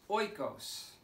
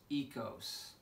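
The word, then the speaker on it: οἶκος: I used to pronounce this oikos, until I had a Greek student in my class named Pablos, and he said, "No, Dr. B, you're mispronouncing the word. That word is pronounced ekos, and it means the home."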